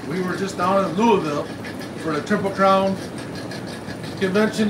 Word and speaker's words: Louisville: there where you're corrected so instead of us say in Louisville it's Louisville so you see it all together we were just down in Louisville for the temple crown